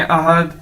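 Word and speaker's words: 二: अ अ ठीक है इस तरह से हमने बोलना अ को बोल के आगे आर थोड़ा थोड़ा सा बोलना बस अ यानी टू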